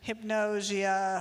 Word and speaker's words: hypnagogia: Will our interest into the sweet spot, I'm going to get the pronunciation wrong, of I heard you say it several times. Hypnagogia.